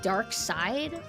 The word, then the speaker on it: Darkseid: I thought it's like, I was pronouncing it Darkseid because I thought it was written like S-E-I-D. So it's Dark Side. Darkseid, it sounds cooler. As long as you're not thinking S-E-E-D, then that's lame.